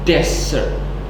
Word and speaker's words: desert: Yang pertama, desert itu stressnya ataupun penekanannya itu di awal, desert gitu. Sedangkan yang kedua itu penekanannya di akhir, dessert.